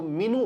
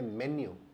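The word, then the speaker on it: menu: मीनू ले आइए, तो अगर आप इसका उच्चारण मीनू करते हैं तो वो भी सही उच्चारण नहीं है। इसको बोलते हैं मेन्यू, मेन्यू।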